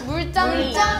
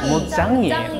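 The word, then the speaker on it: 물짱이: Mizugoro, and in Korean it's Mulchangi. Mulchangi.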